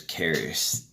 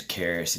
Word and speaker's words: Karis: so my name is Karis it's pronounced like you know like the city of Paris but with a k' I hope that helps